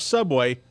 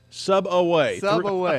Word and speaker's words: Sub Away: restaurant in the world is not Subway sub away three syllables sub away that's like